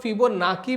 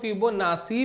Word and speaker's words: Fibonacci: अभी जो फिबोनाची word है इसको काफी लोग फिबोनाकी भी कहते हैं, इसको काफी लोग फिबोनाची भी कहते हैं। मैं फिबोनाची बोलता हूं क्योंकि मैंने प्रोनाउंसिएशन नेट पे देखी थी तो फिबोनाची बोल रहे थे तो मैंने भी फिबोनाची ही बोलना शुरू करा।